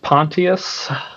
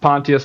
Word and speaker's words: Pontius: So uh spelled the same as Pontius Pilot but uh uh not pronounced Pontius because of that but happens to be a different pronunciation.